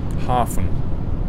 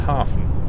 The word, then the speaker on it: havn: H A V N, how do you say that word? That's what I'm trying to ask. I want to come back. Hafen. So, you say it's Hafen.